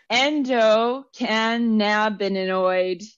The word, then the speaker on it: endocannabinoid: Your endocannabinoid. Nope, I still threw an extra syllable in there.